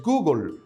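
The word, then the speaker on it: googol: Existe un número que se escribe Gogol y su pronunciación en el inglés es Google, nombre acuñado por el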